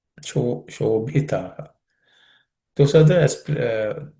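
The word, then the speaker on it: शोभितः: That also has to be aspirate, just like the Suprabhatam. Shobhitaha. Shobhitaha.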